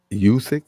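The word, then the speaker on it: Usyk: you saw the highlights yeah aj and uh yousick that's how you say his name yeah uh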